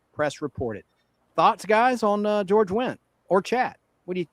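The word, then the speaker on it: George Wendt: George went spelled with a D. The D is silent.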